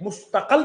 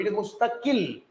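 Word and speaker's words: مستقل: इट इज नॉट मुस्तकल, इट इज नॉट मुस्तकुल, इट इज मुस्तकिल।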